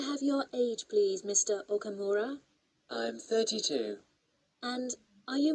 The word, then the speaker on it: Okamura: can i have your name please yes it's okamura okamura and how do you spell that please l know your family name please